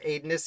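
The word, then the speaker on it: Aedanus: first about aidenness burke i believe it's pronounced adonis it's a silly looking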